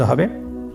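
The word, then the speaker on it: ح: হা হরফটি কিভাবে উচ্চারিত হবে? হা হরফটি উচ্চারিত হবে কন্ঠনারীর মধ্যখান হতে। গলা চিপে ধরে আপনি উচ্চারণ করুন।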